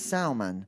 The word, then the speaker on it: salmon: stew, it's salmon. Yes. But if it's broiled, it's salmon. Yes. Wow. Yes. That's amazing. All the residents replied, pronounce it without the L.